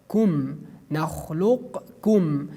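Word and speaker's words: نَخْلُقكُّم: We pronounce it based on idgham, alam nakhluqkum, alam nakhluqkum. We remove the letter qaf.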